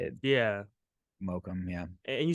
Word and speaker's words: Mokum: the Mocam and Hi-Fi, did I Yeah. say it right? Mokum.